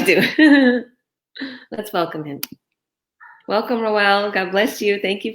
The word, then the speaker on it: Rowell: welcome you're welcome now am i pronouncing your name correct rowell yeah that's right okay awesome so um